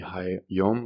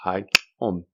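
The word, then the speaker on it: Haiǁom: So those two dash or the two lines uh do not represent L's. It is not the hi yom or the hyong. Um they represent a lateral click. So it's properly pronounced hiom.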